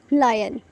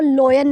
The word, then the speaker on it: lion: देखो, सबसे पहले तो इसको लोयन नहीं बोलते, इसको बोलते हैं लायन। आप जो है वो गूगल पे जाके भी सर्च कर सकते हैं, इसकी प्रोनाउंसिएशन क्या होगी, वो है लायन।